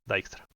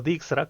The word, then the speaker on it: Dijkstra: escuchado, que es el algoritmo de Dijkstra. o Dijkstra, como se lo pronuncia mal siempre acá, pero el algoritmo de Dijkstra es lo que vamos a ver hoy día.